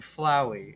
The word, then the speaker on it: Flowey: He's a flower named Flowey.